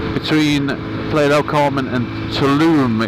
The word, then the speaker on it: Tulum: It's a place called Acamal, which is between Playa del Carmen and Tulum, it's actually pronounced. I was calling it Tulum before we went, like a heathen.